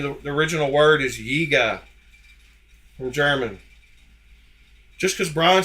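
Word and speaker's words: Jäger: want to Jer Jagger yiga but it comes from the the German word yiga hear it one more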